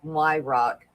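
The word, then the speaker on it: Weyhrauch: so what was it my last name is pronounced my rock but spelled w e y h r a u c h wow i would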